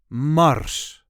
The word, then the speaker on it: Mars: Mars. Mars. There is no real emphasis here, just Mars.